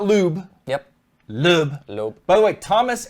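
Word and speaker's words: Sebastian Loeb: Lube. Lube. By the way, Thomas at Fanatic told me that's how it's pronounced, and he's from Germany.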